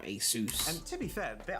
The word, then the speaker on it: Asus: cool there's custom Asus that's how you say it's Asus it's not a sauce it's not among us customizable RGB Lighting on